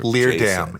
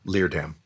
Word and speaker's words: Leerdam: Leerdam. It's not hard. It's a 2-syllable last name. Leerdam.